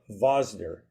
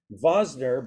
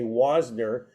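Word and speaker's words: Wosner: is he was RAV vasner vasner but spelled with a W so you would look at it you'd say wasner but they actually pronounced it with a V right just like vodka or vodka right so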